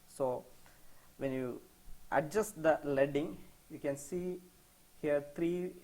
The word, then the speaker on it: leading: This term is pronounced as leading.